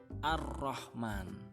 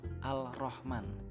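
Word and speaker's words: الرحمن: Dan yang kelima, al bertemu dengan ro, contohnya ar-Rahman, bukan al-Rahman tapi ar-Rahman.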